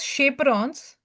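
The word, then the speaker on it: chaperones: folding that is shaperrons it is chaperons actually but we Say we pronounce it as shaperons because they help in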